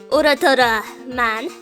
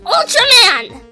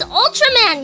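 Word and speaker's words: Ultraman: bring you like a UR Man DVD or whatever and that annoyed me so much because it's Ultram man you don't have to pronounce it Ur man it's it's Ultram man you stupid what's the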